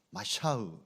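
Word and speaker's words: משיח: 란 히브리어로 오는 오늘 본문 원어 그대로 의 발음은 마샤 입니다 여기서 메시아 가 나왔습니다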